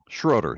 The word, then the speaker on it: Schroader: Schroader, yes. Schroader, okay. That's how it's pronounced, yes.